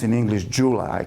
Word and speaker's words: Jula: and so that is a New Concept calls pronounce in English Jula I call it Ula J for Joy U for United L For